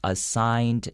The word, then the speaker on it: assign: s i g n even though there is a g the g is silent then lucas then replies